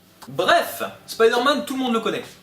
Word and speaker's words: Spider-Man: vous induit en erreur, ça se prononce pas Spider-Man. D'accord? On a deux mots anglais, on prononce les deux à l'anglaise, Spider-Man, soit tout en français, Spider-Man. Mais on fait pas la moitié-moitié, c'est ridicule.